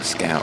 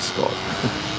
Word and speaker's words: Scott: Probably keep pronouncing Scout, but it's a Scott.